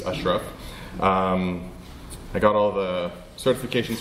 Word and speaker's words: Ashraf: It's actually pronounced more like the A's are U's, Ashraf.